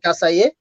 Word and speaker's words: Kasaye: I want to give you props because not many people can actually pronounce my name in my native language. My native language is Amharic, and the fact that you said Kasaye, props, first and foremost.